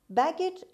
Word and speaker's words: baggage: three baggage baggage package baggage is a noun the stresses at the beginning means the trunks and